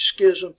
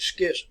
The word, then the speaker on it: schism: Some people pronounce that as Schism, but I want you to recognize it, the Great Schism.